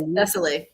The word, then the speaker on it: Thessaly: So I was looking, but I don't know how to pronounce it. Yes, Thessaly.